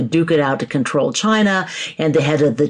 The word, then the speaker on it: Qin: competing Lords basically duke it out to control China and the head of the Chin Dynasty yes that is apparently how Qin is pronounced a wins out he conquers all his